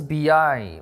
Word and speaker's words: B.I: How old is BI? My international age is 24. How to pronounce BI? Yeah, well, B is like this B, and I is like this. This is my eyes. Yeah, B, I.